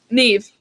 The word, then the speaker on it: Niamh: How do you pronounce your name? Niamh.